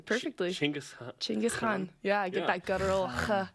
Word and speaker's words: Genghis Khan: yeah, it's actually pronounced Genghis Khan. Oh my gosh, look at you. How did you know that? Because I've talked to a Mongolian about it.